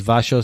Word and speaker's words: Wasio: So it's Wasio, so WASIO, and then for our headshots and portraits, it's Wasio Faces, which is WASIO_faces.